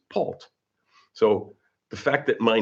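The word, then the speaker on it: Paultre: t r e, but you don't pronounce the r e. It's Pult.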